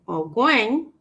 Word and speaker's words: Ogwen: Ongwen, not Ongwen. Ogwen, if I'm pronouncing his name wrong, it's spelled Ogwen, not Ongwen, okay?